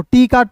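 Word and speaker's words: talk: और एल के का उच्चारण यहां पे एल का नहीं करेंगे। के का क टॉक टी ए एल एम कॉम।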